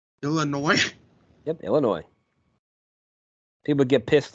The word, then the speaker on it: Illinois: It's Illinois. The S is silent. Illinois.